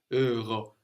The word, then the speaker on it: euros: Also, if you know it, like the Rama in Greek, a little bit like this, Euro, because we don't pronounce the last S either.